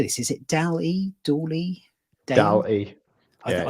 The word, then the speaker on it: DALL-E: DAL-E.